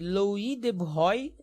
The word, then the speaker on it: Louis de Broglie: negro, o físico francês Louis de Broglie, né, que é a pronúncia em francês, propôs uma equação para